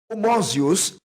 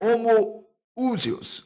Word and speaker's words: homoousios: próprio termo hypostasis, e nós podemos pronunciar homousios, ou homoousios, né? Ou homúsios, alguns pronunciam assim, poderia realmente dizer, opa, aqui tem uma trindade.